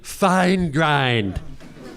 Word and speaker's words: Feingrind: By the way, my doctor at Cedars-Sinai, Dr. Anthony Feingrind is how you say his name. I don't know why, but it's whenever you talk to him, you gotta say Anthony Feingrind.